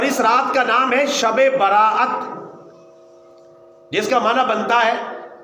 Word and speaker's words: شب براءت: کی رحمت کی رات۔ عام طور پہ ہم اس کو پڑھتے ہیں شب رات، تو شب رات تلفظ غلط ہے۔ شب کا معنی بھی رات اور رات کا معنی بھی رات، تو شب رات کا معنی بنا رات رات، تو کوئی مطلب نہیں بنا۔ شب براءت، ویسے احادیث